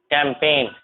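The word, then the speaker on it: campaign: जी के जस्ट बाद एन होगा तो जी साइलेंट होगा। जैसे यहाँ sign, resign, design, foreign, rain, net, कैंपेन, clone, देखो यहाँ सब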